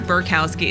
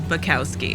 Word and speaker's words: Bekowsky: I always add an R. It's not Bekowsky, it's Bekowsky. And I say it wrong every time, and I'm going to continue to do so.